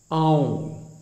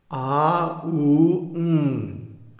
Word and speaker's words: Aum: secrets that the pranava, Aum, don't mispronounce it Om, because first of all, it has three letters, A-U-M. A-U-M. And each one gets a full beat. So, it's not Om, it's A-U-M.